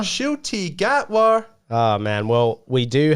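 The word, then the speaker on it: Ncuti Gatwa: went on air how do you say it shoy gatwa shoy gatwa oh man well we do have um do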